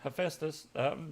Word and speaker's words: Hephaestus: is how you say that just making sure Hephaestus trying to figure out how to pronounce that they're a country yeah we can